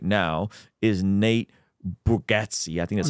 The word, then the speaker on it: Bargatze: And the number one grossing comedian right now is Nate Bargatze. I think that's how you say his name. Did I say that right? Bargatze.